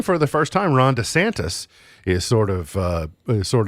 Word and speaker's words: DeSantis: heard Ron DeSantis say his name was DeSantis like we're all just going we're all saying DeSantis but with the emphasis on the D like Hernando de Soto so d e and